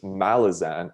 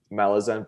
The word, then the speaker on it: Malazan: oh and speaking of malazan the author of malazan or one of the creators um stephen erickson who's canadian by the way yup uh he pronounces malazan as malazan oh no like i heard it